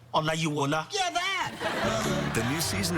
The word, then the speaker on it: Olayiwola: Olayiwola.